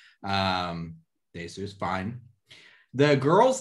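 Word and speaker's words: Dae-su: So let's just go over their names and their pronunciations real quick. Thank you. So our main guy is Daesu, or Odesu. Daesu is fine.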